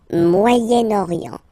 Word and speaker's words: Moyen-Orient: So it's interesting here because normally if you would have only this word here, you would pronounce it moyen, moyen, okay? But then as you get this vowel after, okay, you get to make the liaison between the two.